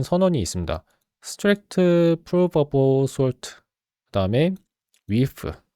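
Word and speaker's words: wff: 스트랙트 프루솔트 그다음에 위프. 이거는 왜 위프라고 했는지 모르겠는데 예전에 메타매스 제로 말고 메타매스 원래의 메타매스에 관한 그 책이라고 하는지 모르겠네 문서에서 이거를 위프라고 읽으라고 했던 거 같아요.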